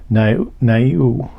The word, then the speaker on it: Niue: Niue, N-I-U-E, never heard of that one. Turns out it was an island nation. So let's get a little more information on this first one, Niue, and hopefully I'm not mispronouncing that.